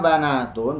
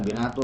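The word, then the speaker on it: بنات: Alaka banatun, bukan binatu.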